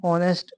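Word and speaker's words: honest: H silent है और जो साउंड आ रहा है वो आपका ओ से आ रहा है।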